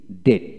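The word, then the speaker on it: debt: আবার খেয়াল করেন, বিটি যখন থাকবে আপনি মনে মনে বিটাকে বাদ দিবেন। যেমন এইভাবে ডিটি ডেট, ডিটি ডেট, আমরা এখানে ডেপ্ট বলি কিন্তু না, ডিটি ডেট ডেট হবে।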